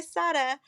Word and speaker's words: Sara: It's spelled Sarah, but I pronounce it Sada, and that's a funny story.